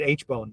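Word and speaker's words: aitch bone: we just abbreviate it no it's actually the name of the bone and butcher terminology it's spelled a-i-c-h but it is the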